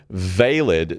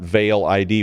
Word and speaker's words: Veil ID: going to release is called valid not Veil ID which is how it's spelled but valid and it can be